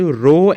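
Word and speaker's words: ρ: पे रो क्या है इसको बच्चे कहते हैं रो आर एओ रो ओके इसको ऐसे बोलते हैं प्रोनाउंस करते हैं रो और दिस इज कॉल्ड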